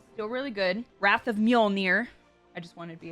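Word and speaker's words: Mjölnir: Wrath of Muolnir.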